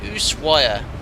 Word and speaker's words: Ushuaia: It's pronounced Ushuaia.